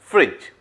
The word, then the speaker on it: fridge: Okay, चलिए examples लेते हैं, फ्रॉग, फॉक्स एंड फ्रिज। अब देखिए यहां भी फ्रिज में थोड़ा प्रोनाउंसिएशन का ये है, FRIDGE है, बट पढ़े हैं कैसे, फ्रिज, FRIJ ऐसे पढ़ेंगे, तो एफ हो गया हमारा फ्रिज, ठीक है।